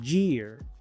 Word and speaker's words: year: Muchos pronuncian esta palabra year, pero la Y se pronuncia I, la E se pronuncia I, la A es muda.